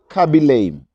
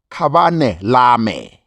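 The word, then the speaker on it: Khabane Lame: It's not Kabi Lame. It's Kabane Lame.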